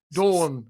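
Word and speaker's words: Dorn: mclady boy who was good with a sword dawn dawn that's how you pronounce it that's the one yeah him and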